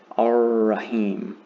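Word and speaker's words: الرحيم: So if a lam is followed by a letter with a shadda above it, that's the easiest way to understand that you do not pronounce the lam either. You just pronounce the following letter, but hold it for 2 counts.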